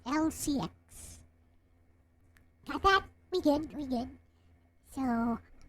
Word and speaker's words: Elle-C X: So it's spelled that way, E-L-L-E dash C space X, but it's pronounced as Elle-C X.